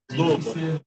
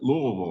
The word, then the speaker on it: Louisville: And you pronounce it Louisville, right? Like something stuck in your throat. Louisville.